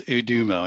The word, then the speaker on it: Udomo: So the name is Udomo, and you got it right.